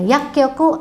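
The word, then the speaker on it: 薬局: Yakyoku artinya apotek. Ingat ada cu kecilnya minasang ya. Yak kyoku ini kyokunya yubing kyoku juga ya.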